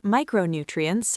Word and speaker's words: micronutrient: The next word is micronutrient. 5 syllables. The primary stress falls on the first syllable, my. Say it slowly. Micronutrient.